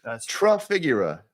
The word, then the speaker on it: Trafigura: name for the viewers real TR figura as in try to figure it out before we go live